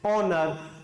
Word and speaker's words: honor: पहली बात तो बच्चों, कोई भी इसको कभी भी honest नहीं बोलेगा, H साइलेंट होता है, honest नहीं होगा, honest होगा, honest, honor, honorarium, honorary, ठीक है, an hour, 1 घंटा, ठीक है, an hour।